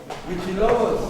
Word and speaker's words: Huitzilopochtli: La forma hispanizada antigua de pronunciarse, porque ellos no podían pronunciar Huitzilopochtli. ¿Saben cómo le pusieron a Huitzilopochtli? Huichilobos. Entonces para ellos era casi como chupacadas, un monstruo.